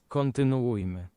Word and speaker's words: kontynuujmy: Okay, hold on. Let's try Google Translate on this one. Kontynuujmy.